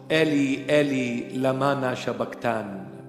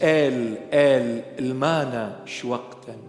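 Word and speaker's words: Eli, Eli, lama sabachthani: When they pronounce it in English, they call it Eli Eli Lamana Shabaktan. It's El El Ilmana Shwaktan.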